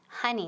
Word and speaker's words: honey: Y pronunciation, very important, honey, honey, no honey. Okay, nunca honeymoon, honey. So O es como A, ¿verdad?